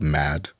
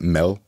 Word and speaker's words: mad: big food Symposium called mad which sounds like crazy but um in Danish you would pronounce it Mel and if you can